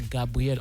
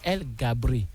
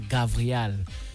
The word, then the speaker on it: Gabriel: soit à effet immédiat, on ne dit pas Gabriel, on dit El Gabri ou on dit alors Gavriel.